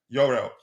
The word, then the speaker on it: Jorrel: Uh Yurel Hato, it turns out his name is pronounced his first name is pronounced Yurel.